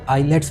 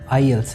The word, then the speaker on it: IELTS: Clear करवाना चाहूँगा कि बहुत से स्टूडेंट्स इसको आईलेट्स बोलते हैं, जो कि ये आईलेट्स नहीं है, आईएल्स है।